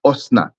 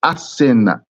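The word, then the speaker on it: Asenath: It's not Osnat, because there's a ma'amid there. It's Asenat. It's not Osnat. It's Asenat.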